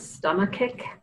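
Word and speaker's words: stomachic: have pronounce this but stomach kick so it's like the word stomach with an IC on the end of it and that is a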